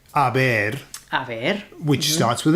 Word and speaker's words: haber: Now, the H is silent, therefore you get words like verbs like haber, A ver.